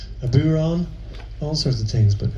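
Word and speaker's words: bodhrán: a f n and DH is pronounced W in the Irish language we don't have a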